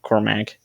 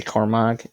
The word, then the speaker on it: Cormag: however you pronounce it and cormac if you say cormag you're clearly missing a chromosome so that's our team